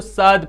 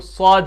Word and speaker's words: صاد: طرح صاد صاد صاد، کچھ اس کو ساد پڑھتے ہیں، ساد، کچھ پڑھتے ہیں سواد، کچھ کیا، لیکن جو اس کا صحیح تلفظ ہے وہ صاد ہے، پر آواز میں، موٹی آواز میں صاد۔ آگے ہے زاد زاد،